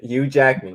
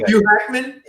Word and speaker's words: Hugh Jackman: Yeah, Hugh Jackman. What did I say first? Hugh Hackman?